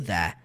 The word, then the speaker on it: that: Ok, I can do that. Quando você vê esse that sozinho, é a palavra that. Só que você não vê o T sendo enfatizado.